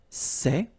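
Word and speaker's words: ces: only one form okay and it's say okay remember open Say Say Say Okay one example s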